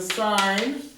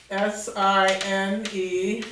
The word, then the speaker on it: sine: So we call the first one the sine. S-I-N-E is the actual name. The nickname is S-I-N, pronounced sine, no sin.